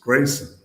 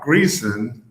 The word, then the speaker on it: Greason: early on um that our last name was pronounced Grayson. Not Greon, not Gleon like Jackie the comedian from the mid 20th century, but um Gray Grayson.